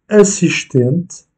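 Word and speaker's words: assistente: Assistent, donc assistant, et l'accentuation est faite sur l'avant-dernière syllabe, ou encore boca, bouche, ou bien carte, qui veut dire lettre.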